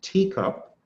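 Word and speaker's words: TECOP: The next one is a teacup, pronounced teacup.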